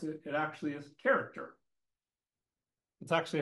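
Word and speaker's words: χαρακτήρ: actually understand what the word means if you pronounce it it actually is character that's actually how you would pronounce the Greek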